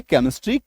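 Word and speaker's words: chemistry: सीएच के बाद तो इसको आप ऐसे समझ लीजिए कि सी + ई एम = क सी + ई एम = क सी के बाद ई एम आएगा तो उसका उच्चारण भी क होगा।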